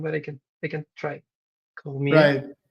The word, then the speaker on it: Cormier: I don't have a good pronunciation, but I can try. Cormier. Right. Cormier, yeah, that's pretty good.